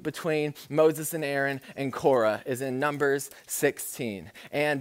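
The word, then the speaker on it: Korah: an a man named cora i think it's a correct pronunciation i'm gonna say quora because that's easier for an american k-o-r-a-h uh korra and um this guy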